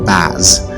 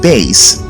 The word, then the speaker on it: bass: adult male singing voice is not pronounced baz rather it is pronounced base likewise the lower female